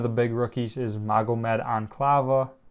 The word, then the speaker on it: Ankalaev: I know one of the big rookies is Magomed Ankalaev. I believe that's how you say it, or Ankalaev.